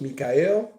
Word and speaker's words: Michael: My name is spelled Michael, but pronounced Mikael.